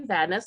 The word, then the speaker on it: Vandais: brian good morning steve my name is vadnis like he said it rhymes with badness that's the easiest way